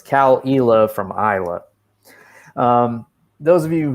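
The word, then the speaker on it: Caol Ila: afternoon sipping some uh cowalila uh c-a-o-l-i-l-a for those of you not viewing the show this is an eyeless scotch it's confusing because isla i-s-l-a-y and e-la ila so it's cal ela from iowa those of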